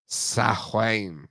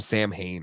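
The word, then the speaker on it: Samhain: Sahwain. You're right. But I think they pronounced him Sam Hain on the real Ghostbusters.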